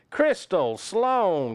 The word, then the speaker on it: Crystal Sloan: Crystal Sloan. Crystal rhymes with pistol. Sloan with own.